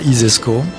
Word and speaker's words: ISESCO: vous considérez que ça isesco comme ça se prononce ainsi laisse donc si vous